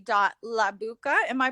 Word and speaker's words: Labucka: a dot j or dot j dot labuka am i pronouncing your last name correctly in my language it's uh la botska oh okay and you'll know her when you